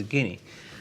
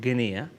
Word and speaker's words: Guinea: isn't it all right apparently you shouldn't pronounce a so it's guine so the Grand Mosque d k k is the big mosque there so if you ever go to guinea not guinia you can go and